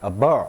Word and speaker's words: abhor: 발음이 abhor 이렇게 하기도 하고 abhor 이렇게 하기도 합니다. H 발음 잘 안 납니다.